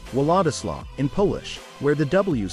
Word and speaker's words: Władysław: Many people mistakenly pronounce Władysław with a hard W sound instead of the soft V sound in Polish.